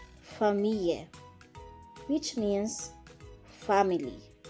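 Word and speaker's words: famille: letter f f like familia which means family here double l is pronounced like y again for me let's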